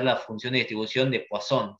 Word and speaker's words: Poisson: función de distribución de wason se escribe poison s 3 está además en el módulo se lee son entonces cuando tenemos que